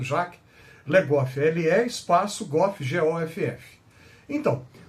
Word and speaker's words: Jacques Le Goff: O historiador medievalista francês Jacques, J-A-C-Q-U-E-S, escreve Jacques, mas eles pronunciam Jacques Le Goff, L-E espaço Goff, G-O-F-F.